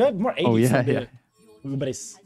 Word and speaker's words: Hubris: Or Hubris, if you are French. Hubris. You don't pronounce it. How much AD do you get, actually? That would be Ubri, right? They don't. Ubri. The French do not read the last one.